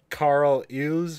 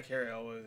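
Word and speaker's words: Cary Elwes: And like we're all having fun, and then there's a part where they get to Carl Eves, or how do you fucking say his name, or Carrie Elves. Yeah, Carrie Elwes, yeah.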